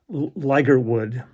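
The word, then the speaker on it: Ligertwood: Um, Yesterday, I got a notification of Alex, I think it's it, Ligerwood, is how he pronounced his last name.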